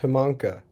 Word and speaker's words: Himango: My parents have always said it Himango, but Himango is probably more accurate because I think originally it's pronounced Himanka. So Himanka. Oh, wow. Himanka, yeah. It's cool. Himango is the Swedish spelling of a Finnish name.